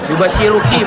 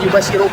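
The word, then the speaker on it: يُبَشِّرُكِ: ismu almasih isu Maryam kacau bacanya yubasiruki bukan yubashiruk sebentar sebentar Yusufi suaramu kalau ngomong suara saya ketimpa gini nih.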